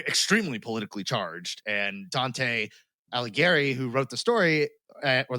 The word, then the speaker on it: Alighieri: Now, coincidence: Alighieri rhymes with Mussolini.